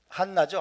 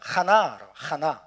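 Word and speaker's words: חנה: 한나죠. 한나. 그죠? 해봅시다. 한나라고 발음하기도 하고 그냥 하나. 네, 안나 히브리어로 하나입니다.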